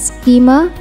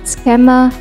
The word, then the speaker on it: schema: of an inference rule for artificial intelligence computing pronounce this as schema and not schema or schema souza a german-based multinational open source